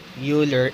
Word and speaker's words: Euler: first used by leonard euler in the seventeens many mathematicians pronounce leonhand euler names as euler instead of euler however another mathematician named